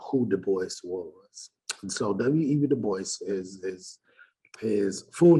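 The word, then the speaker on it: Du Bois: So, We De Boyce is is his full name was William Edward Burg Bart. Bart Boyce. Some people say Dwis, but that's not how you pronounce it.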